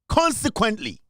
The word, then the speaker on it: consequently: Consequently, consequently, consequently. The O is silent. It should drop in your throat.